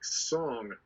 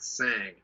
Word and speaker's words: Shang: little thing they said it's pronounced like song not sang yeah is it because